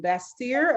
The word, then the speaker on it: Bastyr: She received her naturopathic doctorate degree from Bastyr. Am I pronouncing that correctly?